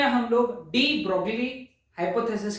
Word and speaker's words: de Broglie: इस लेक्चर में हम लोग डी ब्रोगली हाइपोथेसिस के बारे में बात करेंगे। एक्चुअली डी ब्रॉय है ना, उसका प्रोनाउंसिएशन थोड़ा अलग है, हम तो हमारे हिसाब से प्रोनाउंस करेंगे उसे, है ना, डी ब्रोगलीज हाइपोथेसिस।